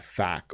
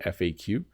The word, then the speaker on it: FAQ: about page and a fact or FAQ um you can say it both ways by the way um and uh oh